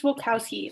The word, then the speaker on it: Volkowski: say your last name it's volkowski like mike wazowski wilkowski that's me in case